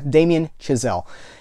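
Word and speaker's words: Damien Chazelle: that director and his see this is uh Damen chazelle I believe is how you pronounce am I am I saying that right yeah Damen chazelle and his college roommate was the composer for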